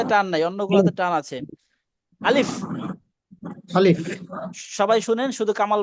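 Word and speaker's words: ألف: যাবে না এইটা টান নাই অন্যগুলোতে টান আছে আলিফ আলিফ সবাই শুনেন শুধু কামাল ভাই পড়বেন আলিফ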